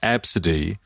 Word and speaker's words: Abcde: that no no no it's pronounced absidy when it's spelled ABCDE everyone in that room